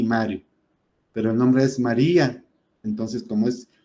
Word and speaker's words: María: Pero el nombre es María. Entonces, como la fuerza cae en la I, pues ahí le ponemos el acento, pero ese diptongo se rompe y se vuelve otra, se divide en 2 sílabas.